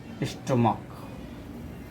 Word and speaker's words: stomach: But pronunciation of stomach is k.